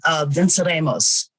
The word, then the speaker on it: Venceremos: I'm going to mispronounce this, so please forgive my tongue. Venceremos Brigade? The Venceremos Brigade. Venceremos Brigade. Yes, we will win. Ooh. Thank you for correcting that.